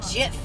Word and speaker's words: GIF: It's GIF. It's GIF. Like handcuff.